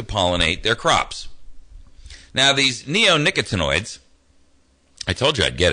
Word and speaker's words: neonicotinoids: and you have to forgive me if I mispronounce this word, it's neonicotinoids.